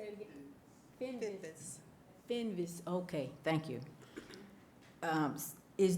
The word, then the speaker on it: Finvis: Before I move to the next item, Alex, could you tell me how to pronounce the last name, Dana Finn? Say it again. Finvis.